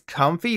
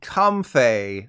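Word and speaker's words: Comfey: Parker Posey picker Pokemon you might think it's comfy like the couch or comb fee like the thing you never use in your hair but literally the worst possible pronunciation is the official one are you ready this Pokemon is seriously called come Faye like come on seriously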